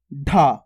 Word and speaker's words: ढ: उसके बाद है अपने ढ अब इसका उच्चारण देखो थोड़ा जोर लग के हो रहा है ढ इसका कैसे करता अपन ने सिंपल ड और इसका कैसे कर रहे ढ यानी कि ढक्कन ढकना